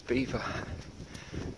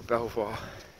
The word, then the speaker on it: Belvoir: It's actually spelled Belvoir, which I think is French for beautiful view, but everybody in Leicester pronounces it as Beaver, and if you go Belvoir, they'll soon tell you off and put you right.